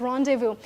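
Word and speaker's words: rendezvous: तो ये this is the word रोंडेव्यू try pronouncing it.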